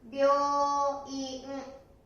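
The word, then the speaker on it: 病院: 発音は病院、病院ですね。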